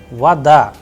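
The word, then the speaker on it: вода: and that is why the sound of o is coming like ah and i am pronouncing like vada all right and in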